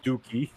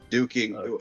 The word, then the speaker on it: Duking: I said duking. I just said it. I just said it wrong. Duking. Is that Is that not how you say his name? No, it is Duking. But I thought you said Dookie like poop.